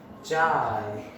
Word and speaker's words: chi: Electric susceptibility क्या होता है देखिए जरा। इस सिंबल से रिप्रेजेंट करते हैं कार्ड लाइन, स्ट्रेट लाइन। हाँ, इस सिंबल को बोलते हैं CHI, चाय, काय, जो मर्जी प्रोनाउंस करो।